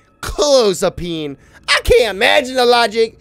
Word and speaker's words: clozapine: Clozapine. Here we go. Oh, sorry. Clozapine. Ah, let's go! You heard that? Clozapine. Clozapine. You heard that? My pronunciation was correct. Clozapine.